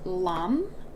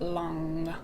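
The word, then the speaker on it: Lam: with this chakra is lum l-a-m but it's actually pronounced long l-a-n-g so i'm just gonna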